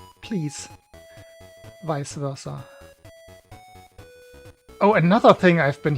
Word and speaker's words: vice versa: I have been hearing people say vice versa so often recently. If anybody of you thinks that's how it's pronounced, please revise your understanding. It's vice versa, please.